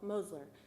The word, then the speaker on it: Mosler: It's a long O Mosler."